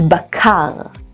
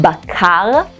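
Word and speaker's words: בקר: The tricky part here is pronouncing the r in bakar and yerakot. Try pronouncing the r and notice your tongue is rolling close to the back of your throat. R, bakar, yerakot.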